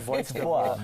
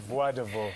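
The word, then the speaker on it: Voix de Ville: He was like, no, it's not Voix de Viile. It's pronounced Voix de Viile.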